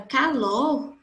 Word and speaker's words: calor: Na palavra calor, dá para perceber muito bem que o lo, calor, calor. O lo, ele tem uma intensidade muito maior do que o K. Então, o acento tônico ou acento prosódico de intensidade está na sílaba lo.